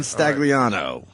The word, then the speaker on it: Stagliano: so much man John stagliano right no the g is silent it is right Mars